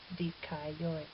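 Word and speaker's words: δίκαιοι: Notice too that this word has 3 syllables even though it has 5 vowels. That's because alpha iota is a diphthong, and as I said, omicron iota is a diphthong. So we have the iota and 2 diphthongs, which gives us our 3 syllables, dikaioi.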